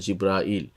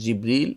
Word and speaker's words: জিবরিল: তবে জিবরিল বা জাব্রাইল আর জিব্রাইল এইভাবে বর্ণনাটা খুব শুদ্ধ নয়, এটা আমাদের দেশে খুব প্রচলিত জিব্রাইল। তবে সদর জিবরিল অথবা জাবরিল অথবা জাব্রাইল, কিন্তু জিব্রাইলটা বেশি শুদ্ধ নয়, তবে সেটা আমাদের দেশে প্রচলিত আছে।